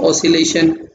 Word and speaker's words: oscillation: सबसे पहले वो आप लोग सुनो, जैसे मान लो ये लिखा रहता है पहला तो ऑसिलेशन, पहला, ठीक है, यानी इसमें सी साइलेंट रहता है।